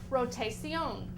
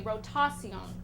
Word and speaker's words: rotación: Okay, the Spanish cognate is rotación. I mean excuse me, rotación. Rotación. Okay, it is spelled r o t a c i o n with the accent on top of the o.